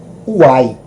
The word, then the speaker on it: ai: é interessante que a pronúncia da palavra ai lá no Grego é uai isso nos faz lembrar desse desse essa linguagem goiana não é e mineira em tudo a gente diz uai uai de uma forma Alegre não é mas